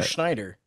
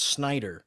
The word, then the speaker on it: Snyder: right he's the new Schneider yeah I'm pronouncing that wrong it's Snyder I think it's Snyder yeah you're putting an H in there where it's a Jewish